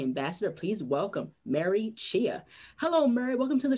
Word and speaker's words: Mary Chhea: strategist and a c d ambassador please welcome mary chia hello murray welcome to the show hi thank